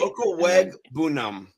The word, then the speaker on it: Okwuegbunam: Okwuegbunam.